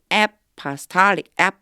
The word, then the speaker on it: apostolic: apostolic 이렇게 발음돼요. apostolic 할 때 뒤에 강세가 있어요.